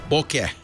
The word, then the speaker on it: bokeh: Bokeh. Sometimes people say bokeh. I don't know what the Japanese pronunciation is.